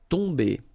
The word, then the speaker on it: tomber: Okay, so remember, you've got om here, but after that you've got a consonant, so it does mean that this combination of om will give you the sound on. Okay, you don't pronounce the m at all, so it's really a nasal, so it goes in your nose.